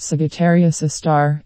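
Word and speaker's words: Sagittarius A*: The telescope array also monitored a dim source of radio noise called Sagittarius A, pronounced Sagittarius A star, at the heart of our Milky Way galaxy.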